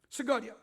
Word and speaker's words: 스가랴: 그리고 재단과 성전 사이에서 죽임을 당한 사가랴.이 사가랴는 신약적인 발음이고 구약적 발음은 스가랴예요. 스가랴.